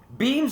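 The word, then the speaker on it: BEA²MS: Beams Automotive, B-E-A-M-S, like it sounds, except it's spelled B-E-A squared M-S.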